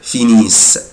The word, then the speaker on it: finissent: il elle finissent mais je ne prononce pas ENT ومش بنطق ال ENT، بقولها كده finissent finissent.